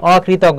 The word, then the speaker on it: অকৃতজ্ঞ: মনে রাখবে উচ্চারণ করার ক্ষেত্রে যেটা দ্বারা নেগেটিভ অর্থকে প্রকাশ করবে সেই ক্ষেত্রে অয় বহাল থাকবে। যেমন অকৃতজ্ঞ, এটা দেখো কৃতজ্ঞর বিপরীত শব্দ, অকৃতজ্ঞকে বোঝাচ্ছে, তাহলে এখানে অয় বহাল থাকবে।